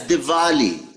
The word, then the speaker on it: Diwali: No, it's Diwali. Say verb for verbiage. Because it's pronounced Diwali. I mean, Vermont. It's Diwali. spelled with a W. V for Vermont.